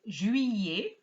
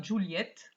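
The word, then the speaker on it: juillet: nasal join and then jui and not juliet as i often hear and then it used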